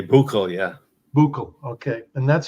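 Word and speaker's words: Büchel: it it is a hard one to say buul yeah buul okay and that's in Germany so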